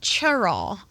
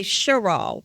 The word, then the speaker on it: Cheraw: years 50 years okay now and you said churl is that the proper way to say it